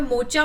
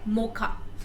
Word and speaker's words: Mocha: अब यहाँ पे मोचा मत बोलना है इसको, इसका प्रोनाउंसिएशन क्या है, मोखा।